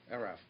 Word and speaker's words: ERAFP: You're going to tell me how to pronounce it correctly. ERAFP.